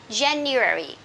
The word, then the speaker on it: January: This is American English. In British English, we say January. And this one, February. Okay, so again, American English, January, February. Okay, and for British English, January and February.